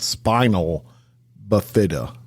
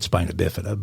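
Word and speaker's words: spina bifida: uh in this situation it was I who uh mispronounced the word I I said spinal buida I believe is that how it I thought you said I thought you said spinabifida but spinabifida well I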